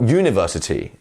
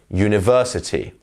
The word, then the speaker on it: university: Not university, university. It's the ver.